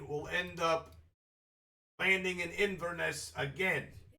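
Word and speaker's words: Inverness: end up landing in Inesse again. Iness? Yes. It's three syllables and we'll land in Invenesse that day.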